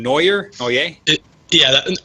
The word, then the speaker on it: Noyer: uh his name is mr joshua do i pronounce that last name neuer oh yeah yeah neuer is correct all right so mr uh joshua